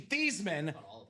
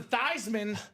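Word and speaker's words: Theismann: name from Theman to Thyman." This is 100% true. This part of the story 100% true. So his name was actually Theman. Change it to Thyman so it could be Thyman for the Heisman.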